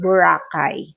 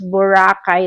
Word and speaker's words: Boracay: That's the way we pronounce. But you as an American, you as a foreigner, you pronounce Boracay like Boracay. Yes. But I want to use it Boracay because that is our Boracay.